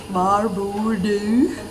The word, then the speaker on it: var bor du: Var bor du? Means where do you live, and it's pronounced as var bor du.